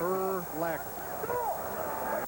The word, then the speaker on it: Urlacher: his name is it Earth latcher or lacquis it rhymes with linebacker it's ER lacquer lacquer and linebacker will